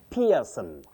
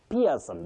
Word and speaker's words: Pearson: You say pair for the word pair. Then the name Pearson. Pearson.